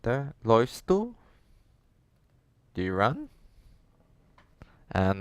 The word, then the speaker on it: läufst: So I would say ich laufe, du läufst, es läuft, wir laufen, ihr lauft, sie laufen. Now, notice the pronunciation has changed for the do and es form.